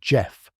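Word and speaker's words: Gef: This is the story of Jeff, spelled G E F, pronounced Jeff, a talking mongoose who lived with the Irving family on the aisle of man from 1931 to 1945.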